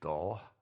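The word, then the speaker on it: Dull: english town names is doll yeah and it's actually spelled the way it's pronounced d-u-l-l and they're the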